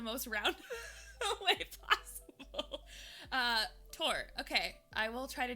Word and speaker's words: Thor: a bit like mine people pronounce it thor but in norse it's tor i'm sorry thank you